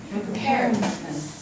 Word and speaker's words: repairman: repairman 이라고 읽어야 돼. 그러면 여기에는 아까 얘기했던 것처럼 요 자리를 강하고 높고 길게 발음을 해야 돼.